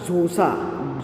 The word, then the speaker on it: Xhosa: Okay, सो मादिबा क्या है spelling मादिबा का? MADIBA. ओके, नेक्स्ट दूसरा, उनके क्लेन का नाम था ज़ोसा.